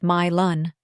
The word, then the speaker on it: Milan: When we arrive at Sarah's home in Milan, pronounced My-Lun, unless you're poking fun, in which case you can say it like the Italian fashion capital, she's smoking a cigarette on the porch in a sloth t-shirt and pajama pants.